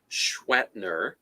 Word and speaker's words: Schwetner: Well, the proper way to say this, because the way I say my last name is Schwetner. So it would be Mr. Sh, which doesn't make any sense when you look at the letters. But that's how that's pronounce our name.